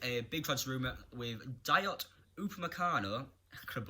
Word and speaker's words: Dayot Upamecano: Starting off with a big transfer rumour with Dayot Upamecano, I could have butchered that name, is the RB Leipzig.